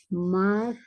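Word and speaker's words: Μάρθα: ma, ah, Esto es una R, se pronuncia como una R, esto se pronuncia como una TH. ¿Cómo sería? Marta.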